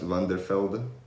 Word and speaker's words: van der Velde: So that would be the pronounced van der Velde. Van der Velde. Van der Velde. So you're very, very close.